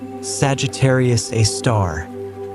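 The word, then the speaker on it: Sagittarius A*: Its name is Sagittarius Aar, pronounced Sagittarius, a star.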